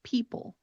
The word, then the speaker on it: people: Another example here that follows a very similar pattern is people. People. When you pronounce people, the stress is definitely on that first syllable.